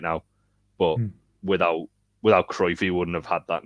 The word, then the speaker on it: Cruijff: We say Cruyff, and it's actually Cruyff, I believe. Right, yeah. There you go. Yeah. But Jamie says, look. Like it would be Cruyff. Yeah, it's Cruijff. Cruyyff. Gotcha. Pronounce C. Yeah, gotcha. All right, gotcha. But yeah, you don't pronounce the U.